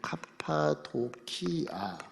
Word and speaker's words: 카파도키아: 그 지금 앙카라 바로 밑에가 이제 갑바도기아인데, 갑바도기아. 카파도기아, 카파. 발음으로 보면 카파도키아.